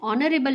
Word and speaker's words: honorable: an honest man, an honorable man. Here you can see an R, HOUR, R में H silent होगा, and honest man इसमें भी H silent होगा, an honorable man here also H is silent, etc.